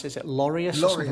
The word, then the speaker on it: Laureus: I can't I don't know how to pronounce this. Is it Laureus or something like that? Laureus.